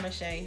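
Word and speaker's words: Mishay: Is her full name Mache? Yeah, it's just spelled with a Y at the end.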